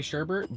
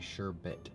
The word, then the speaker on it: sherbet: I think it's sherbet I say Sherbert but apparently we've been saying it wrong our entire lives it's actually sure bit there's no art hmm sure with